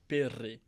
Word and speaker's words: Pirri: Can you roll your R's? Pirri.